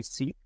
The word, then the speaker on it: Sikh: So the preferred pronunciation is Sikh. You'll oftentimes hear people say Sikh. That's really a remnant of the British being in India. And so the British pronounce it as Sikh, and that's stuck in many cases. But the preferred pronunciation from the Sikh community is Sikh.